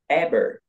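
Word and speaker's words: Eber: the first name I I think you say the emphasize a little more to to the end is abber AB ah okay abber AB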